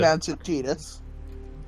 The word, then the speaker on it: Tidus: I mean, you just pronounce it Tidus.